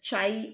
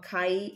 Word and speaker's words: chi: See here a Greek letter pronounced as chai or kai as it depends upon your pronunciation kai square.